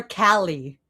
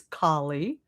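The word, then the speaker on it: Kali: They call her Callie, which like bothers me. It's like a small mispronounce mispronunciation, but like it's Kie, but like they don't even care.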